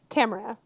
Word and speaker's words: Tamara: Is it pronounced Tamara or Tamara? Tamara.